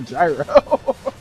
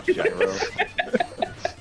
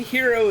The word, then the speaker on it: gyro: I was going to say for for your viewers at home, it's a gyro. A gyro. But that's why like, okay, hero is a sandwich, not a gyro.